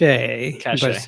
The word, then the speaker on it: cache: just a So it's spelled cache, Cache, yeah. but it's pronounced cache.